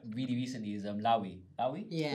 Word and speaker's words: Loewe: The one designer I like really recently is Lawi. Lawi? Yeah. Loewe.